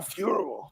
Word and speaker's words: Fiorot: Fuhrer, I said it wrong again. All right. Jesus. Apparently I said it right. These guys have confused me. Manon Fuhrer. That's how you're supposed to say it.